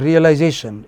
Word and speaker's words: realization: But realization, it changes. Realization has a stress on the third syllable or fourth if you so like.